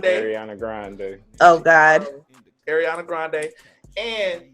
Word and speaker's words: Ariana Grande: You're saying her name wrong. How am I saying? You're saying Ariana Grande. Her name is Ariana Grande.